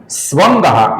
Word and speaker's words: स्वंगः: स्वंगः, इसके विसर्ग का आगे श आने के कारण हम अपूर्ण श ऐसा उच्चारण करते हैं।